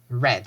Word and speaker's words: read: So it is read, read, red. It's the same sound as the color red, the same sound.